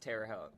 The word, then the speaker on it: Terre Haute: It's pronounced Terre Haute, but Nathan learned that last week, and he's raced it a lot of times.